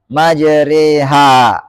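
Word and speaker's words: مجراها: Kemudian yang kedua, huruf alif yang dibaca imalah. Itu huruf yang dilafalkan condong dari alif ke ya. Itu dari fathah ke kasrah. Nah, dalam riwayat Hafiz ini cuma satu, yaitu kata majriha.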